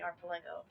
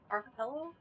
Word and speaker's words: Archipelago: The cardinal has not been back to helping the Archelago. Archelago. Archelago. The C's not pronounced it right. Archipelago.